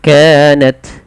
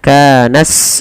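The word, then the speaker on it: كانت: Nah, karena tak memiliki 2 sifat yang harus menonjol dalam membacanya, dia tidak boleh memantul. Kanat lakumud misalkan begitu, tidak boleh mantul, dan dia tidak boleh diganti dengan huruf sin misalnya kanas lakumud, kanat lakum misalkan seperti itu. Dia ada sifat yang pertama tak memiliki sifat hams.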